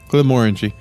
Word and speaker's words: Glenmorangie: Glenmorangie.